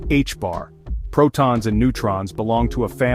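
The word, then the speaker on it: ħ: We measure this spin in units of the reduced Planck constant, often denoted as h, pronounced h-bar.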